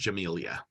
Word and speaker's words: Jamila: name in the chat it's spelled Jamila it's pronounced Jamelia uh most popular programs